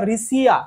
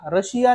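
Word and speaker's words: Riccia: आणि नेक्स्ट वाला आपला रिसिया रशिया नाही रिसिया आता नेक्स्ट आपला जो थर्ड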